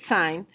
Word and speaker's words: sine: cosine and tangent so sine which looks like sin but we pronounce it sine is always the ratio